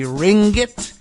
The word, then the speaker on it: Ringgit: heard of the Malaysian currency unit it's the Ringgit or I hope I'm pronouncing it uh even close to correct r-i-n-g-g-i-t